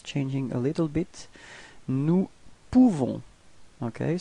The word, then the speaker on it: nous pouvons: Nous pouvons. Okay, so you write this O-U and you pronounce it OU. Okay, so if you combine it, you nous pouvons. Okay, you don't pronounce the final S.